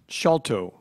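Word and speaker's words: sciolto: Are there any alternate pronunciations? No. Can you repeat the word? Escambron. Escambron. E-S-C-A-M-B-R-O-N, escambron. Shalto.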